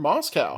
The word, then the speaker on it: Moscow: From Moscow. Not Moscow, Idaho, CJ, because in his email he lets me know that it's pronounced Moscow.